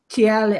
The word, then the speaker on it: Thales: were talking about this Thales. They like to call themselves TL or something stupid, but it's spelt Thales anyway.